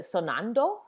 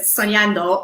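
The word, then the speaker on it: soñando: pronunciation of spanish but sonando you know what it's that's good i forgot to put the little uh curlicue on the end so it's soniando or dreaming oh yeah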